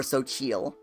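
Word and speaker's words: Xochitl: Xochel is a feminine name of Mexican origin, and is pronounced Xochel, or Xochil.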